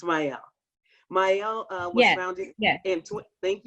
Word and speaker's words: Mielle: Am I pronouncing that right, Monique? Is it Mielle? It's Mielle.